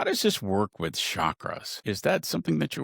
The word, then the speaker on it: chakra: How does this work with chakras? Is that something that you work with as well? Yeah, absolutely. So, it's pronounced chakra. So, I know that chakra.